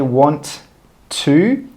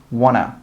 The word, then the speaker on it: want to: And we don't say 'want to.' We also join them together and we say 'wanna, wanna, wanna.'